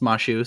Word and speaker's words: Masyu: it's pronounced Mashu, so that's how I've Interesting.